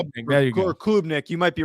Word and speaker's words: Klubnik: Is Klubnik coming in and how he looked and how